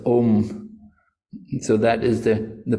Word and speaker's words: om: type of pranayama so three syllables a u m this om so that is the